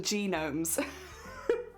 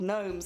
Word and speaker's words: gnomes: character in it well I used to call them genomes genomes because I was like there's no way they're called gnomes because I know what